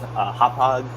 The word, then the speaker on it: Hauppauge: There's a town called Hauppauge.